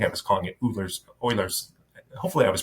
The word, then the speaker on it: Euler: talked I think I was calling it Euler's eulers hopefully I was pronouncing right but it's Euler's theorem so anyways